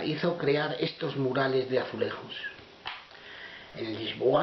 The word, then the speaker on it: azulejos: crear estos murales de azulejos. En Lisboa, los azulejos pronunciados a la manera portuguesa, no a la española con la J, están por todas partes.